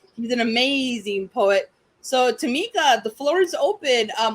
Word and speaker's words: Tamekia: it sound to me yeah and i keep telling them the eye is silent and my third grade